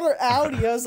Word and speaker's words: Audi: ] look at this see that's how you say it Jake it's not Audie it's Audi A's a girl I